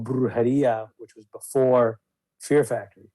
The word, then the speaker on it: Brujeria: There's such a difference between, I guess, that band and your I don't even want to mispronounce Brujeria. Brujeria.